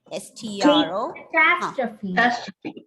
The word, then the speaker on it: catastrophe: Catastrophe. Catastrophe. Where is the stress? First, second, third? Second. Exactly. Second syllable, catastrophe.